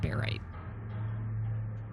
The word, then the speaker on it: barite: if you are right all right it's pronounced barite bar right all right I think